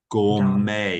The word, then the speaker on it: gourmet: As a he chooses to eat at the finest restaurants, gourmet. Gourmet. Yeah. So remember this last word, this last bit of the word me t is not pronounced met. It's pronounced may gourmet.